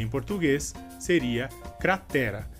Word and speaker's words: cratera: No caso, em espanhol, a sílaba mais forte seria a primeira, cra, e em português seria a sílaba t.